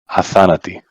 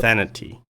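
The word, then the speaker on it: Athanatoi: So O and I, yeah, it's a masculine plural.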